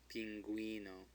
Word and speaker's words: pingüino: Okay, so we've got an umlaut here, so we know that U is going to be pronounced. So it's pingüino.